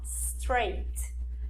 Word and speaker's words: straight: Então, o chunk to be straight to the point, esse GH aqui também não é pronunciado, então você vai dizer o seguinte, ó, straight.